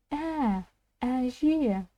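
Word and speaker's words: әже: бу эже бу эже вспоминаем чтобы произнести букву э нужно для начала произнести слово мяч и буква я нам даст звук э же эже ударение на последний слог на последнюю гласную букву В данном случае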